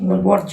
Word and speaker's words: বর্জ্য: বর্জ্য উচ্চারণটা প্রথম দিকে একটু ভুল হচ্ছিল, বজ্র বজ্র শুনছিলাম। বর্জ্য হবে ওটা।